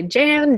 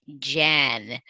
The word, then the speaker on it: Jen: Jen, okay. Yes, absolutely. Okay. I usually introduce myself Jennifer because people what if I say my name's Jen, they'll say Jan, Jane, and Jean.